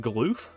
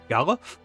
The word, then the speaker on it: Galuf: Is it Galoof? Galuf? Is that Galifianakis? Got the beard for it. Galoof like aloof.